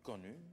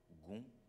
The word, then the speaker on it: gon: Le nom le plus connu de Fa est incontestablement Fa Aïdégon. L'expression est formée en langue fon de lexème suivant: Aï, terre, ici. De, palmier, gon, on prononce également con, ou quin, graine, noyau.